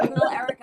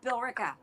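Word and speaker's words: Billerica: They're like Bill Erica. I'm like it's Bill Ricka.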